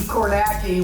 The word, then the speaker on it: Kornacki: or is it steve karnaki or john kernacki or steve oh whatever let's see who won the dorians take it away hi everybody steve kornacki which rhymes with khaki which is what i'm